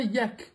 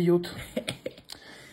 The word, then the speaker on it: yacht: Alors oui, je précise, hein, yacht, ça se prononce yacht, c'est pas yak, parce qu'il y a plein de gens qui disent yak.